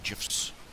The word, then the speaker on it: GIF: I'm going to add more of those animated GIFs as time goes by. Yeah, and yes, it's pronounced GIF.